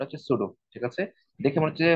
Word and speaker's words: pseudo: ঠিক আছে, এইটা হচ্ছে সুডো, ওই বলে উচ্চারণটা হচ্ছে সুডো, ঠিক আছে? দেখে মনে হচ্ছে হচ্ছে সিউডো, উচ্চারণটা সিউডোর মতোই হবে।